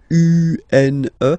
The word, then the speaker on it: une: Then the feminine article is here, and it's easier because if you have this U, N, E, then you pronounce it une.